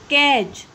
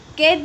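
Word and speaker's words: cage: कैज, कैज, कैज नहीं बोलते, केज बोलते हैं। ओके, का एच, कैज। तो ये ए है, उसको हम थोड़े टाइम तक क्या बोलते हैं, उसको खींच के बोलते हैं। ओके, और ई का प्रोनाउंसिएशन हम नहीं करते हैं।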